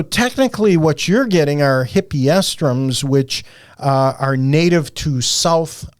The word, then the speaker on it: Hippeastrum: and you can test me on this, Stacy, Hippeastrum. Excellent work. Thank you. I've got it phonetically spelled out here, but Hippeastrum.